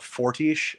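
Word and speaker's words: Fortiche: that they've been working with for this show forti I think is how it's pronounced they have said that Arcane is not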